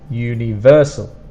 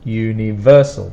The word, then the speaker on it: universal: For pronunciation, the third sound is the strong one. Universal. Universal. That's the stronger sound in the word.